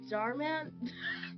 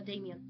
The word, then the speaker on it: Daman: I'm Darman hold on I'm saying his name wrong I don't want to do that D I'm I'm G say Daman Damian Deon Dam it's like the version of D demon Dam Damon no Daman uh thanks Ace I'm